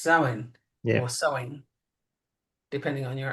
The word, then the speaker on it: Samhain: And by the way, the Morrigan is also associated with Samhain or Halloween Right.